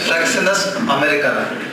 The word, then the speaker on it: Fraxinus americana: Last class I told a remedy wrong. Fraxinus americana. Must be I would have pronounced it in a different way. Kindly correct it. The remedy is Fraxinus americana.